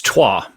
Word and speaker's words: Twa: do you say your last name neil it's trois neil it's great to have you here i'm